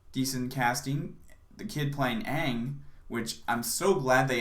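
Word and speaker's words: Aang: a decade ago again his name is ang not on which is what they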